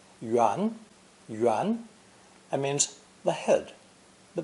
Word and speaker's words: 元: saw in lesson six this new character is pronounced the second tone yuan yuan and means the head